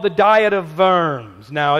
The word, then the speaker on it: Worms: called the diet of Verne's now it's spelled in English diet of worms but you pronounce the W as a V and it's not a